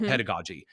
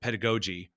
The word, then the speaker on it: pedagogy: It's called pedagogy. Um, and if you're really stupid, you pronounce it pedigogy or pedigogy.